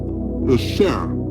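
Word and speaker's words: شیر: The Persian word lion is pronounced Sher, or Sher, derived from the symbolizing the strength, the courage, and the nobility.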